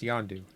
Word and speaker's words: John Doe: It's spelled John Doe, but it's pronounced Yondu.